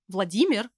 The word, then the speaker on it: Vladimir: a male name and vladimir which is actually pronounced as vladimir in russian has two common short